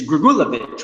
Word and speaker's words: Grigulevich: you're in your intro you talked about is gregulovic right I mean is that how you pronounce it yeah um I mean and you